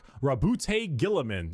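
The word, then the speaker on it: Roboute Guilliman: Primarch Rabute Gilliman.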